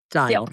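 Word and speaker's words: Steil: One is the Stop Insider Trading Act, which is sponsored by Republican Brian Style. Style. Style. Feeling it. Brian's It Style doesn't out of sound like Wisconsin. it's spelled, which is why it's like one of those names that Right, style, Brian exactly.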